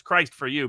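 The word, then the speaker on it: Christoforou: out how to remember how to say his name it's Christ for you basically in Greek so uh and it's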